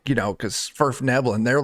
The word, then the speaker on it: Svirfneblin: Svirfneblin. Yeah. Yep. It's like Only it's reason- like Yeah, only. it's like Nerf nibbling.